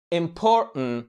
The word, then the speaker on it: important: يعني بامكانك تنطق الكلمة important وبامكانك تقول important وتشيل التي خالص.